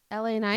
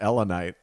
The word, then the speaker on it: LA Knight: LA night. There you go. LA. It sounded like you said Elanite.